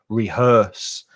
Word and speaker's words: rehearse: the noun is rehearsal be careful of the pronunciation of that vowel sound er rehearse and a cover version